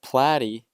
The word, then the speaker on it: platy: I'd like to tell you that platy are flatworms, and how do I remember that? Well, platy rhymes with flatty.